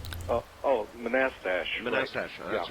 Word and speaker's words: Manassas: that I guess all right how do you pronounce the name of your town manistasia oh oh Manassas that's right thank you uh and uh actually